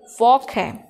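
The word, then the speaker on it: walk: Okay, वॉक में L silent है।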